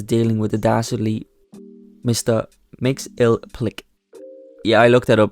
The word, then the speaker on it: Mxyzptlk: Mxyzptlk. Yeah, I looked that up, by the way, that's how you pronounce it.